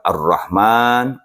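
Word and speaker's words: الرحمن: baik kata Rasul hati dalam lafaz Arrahman itu ada ee panjang dibacanya termasuk penulisannya panjang maka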